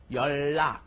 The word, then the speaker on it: 연락: Okay, what happens is, as we've seen, you put an N up next to a dil at some point, the nian up next to a dil, and what happens? It ends up being pronounced just as a double L.